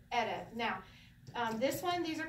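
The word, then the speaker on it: ערב: Ayin is silent, makes no sound. The reish, and the vet. So, ere.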